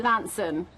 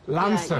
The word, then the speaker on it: Launceston: That's right, Launceston. Launceston. Yeah, you kind of miss out all the C's and T's, so it's L-A-N-S-O-N, Launceston.